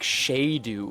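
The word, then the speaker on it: sceadu: supposed to be if you saw s c e a du I like shadu or something I get that people wouldn't have pronounced shadu and if they wanted people to pronounce it like it's pronounced in Old English I can get how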